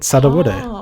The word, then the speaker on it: Sudowoodo: saddle water that's it sudowoodo all right this time I have a feeling that I might be correct I have always said su because it's like then it's like every syllable rhymes mm-hmm with both wrong